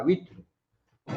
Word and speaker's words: with: और देखो British English में इसको ध्यान दे रहे हैं आप लोग। ब्रिटिश इंग्लिश में इसको थॉ बोला जा रहा है। यहाँ देखिए फोनेटिक्स में लिखा हुआ है, या थॉ बोला विथ। ये भी बोलेगा विथ, न्यू अमेरिकन विथ। और ये बोल रहा है ब्रिटिश वाला, अच्छा, विथ।